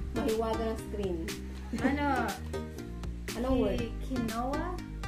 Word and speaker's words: quinoa: Quinoa? Quinoa ang pagbasa mo dyan. Mm-hmm. Ang tamang pronunciation niyan ay quinoa.